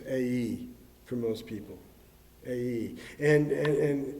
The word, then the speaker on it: Ai: Now look, actually, the name of the city isn't always pronounced I. It's A-E for most people.